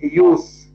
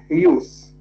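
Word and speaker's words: Hughes: PL was married to the British poet Ted huse Ted huse I will spell it for you Ted is the first name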